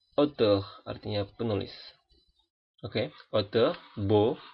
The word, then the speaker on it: beau: Untuk huruf A dan U, E, A, U, dan huruf O, ini semua dibaca O. Oke. Sekali lagi, A dan U, E, A, U, atau O, itu semua bacanya sama, dibunyikan dengan O.